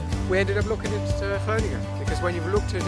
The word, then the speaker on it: Groningen: More specifically, the fair city of Groningen, or as my online research has told me, it is pronounced Groningen.